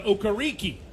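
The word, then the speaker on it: Okereke: this country from nigeria his name was americanized to okariki correct and to honor his heritage and also for young people who have different names whose names are hard to pronounce he has gone back to the original pronunciation of his name not saying that there was anything wrong with the other just saying this is how he prefers to do it okay but that was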